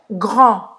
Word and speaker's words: grand: Grand. Grand. Grande. Grand. Grand. Presta atenção aqui ao R. Tem que treinar, tá? Grand. Grand. Grand. E o D não vai falar.